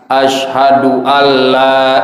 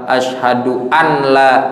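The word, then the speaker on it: أشهد ألا: kalau kita baca tadi nun mati ketemu lam Asyhadu anla ilaha illallah maka itu dapat membatalkan Salat kita dan harus diperhatikan Terus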